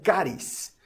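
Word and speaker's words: charis: del espíritu don es una palabra que en griego se pronuncia carys y que literalmente significa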